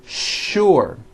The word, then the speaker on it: sure: What you may not know is that there are some words in English that are written with the letter S, but are pronounced with the SH sound. Words like sugar and sure.